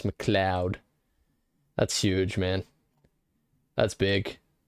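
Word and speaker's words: MacLeod: pronounce his last name let's see how he pronounce it I think he really shook up the musical industry with that the following pronunciation is it moud ah it's McLoud that's huge man that's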